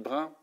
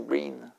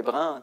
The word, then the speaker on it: Brin: brun mais mon avis la prononciation peut-être c'est brin BR David brin ouais mais